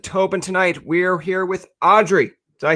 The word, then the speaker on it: Audriix: tonight we're here with audrey did i say that correctly you did the x is silent just audrey perfect uh so tell